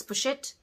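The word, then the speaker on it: pochette: matisse but it's not you don't pronounce the s unless there's an e on the end so it's push it i don't like it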